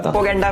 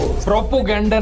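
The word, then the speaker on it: propaganda: प्रोपोगेंडा फैलाओ, प्रोपोगेंडा फैलाओ। प्रोपोगेंडा नहीं Elvish, प्रोपेगेंडा होता है नहीं।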